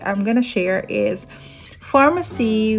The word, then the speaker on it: Farmasi: i'm gonna share is pharmacy which is f a r a pharmacy si pharmacy so it sounds like that farm pharmacy c is an international